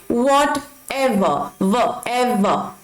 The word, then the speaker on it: whatever: अब whatever नहीं बोलेंगे, आर को हम साइलेंट रखेंगे, इसे प्रोनाउंस करेंगे whatever। एवर नहीं बोलेंगे, whatever, ओके।